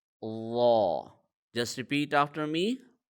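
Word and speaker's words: ظاء: Instead, it is Law. Okay? Law. The Z sound will be muffled, and it has an aw sound.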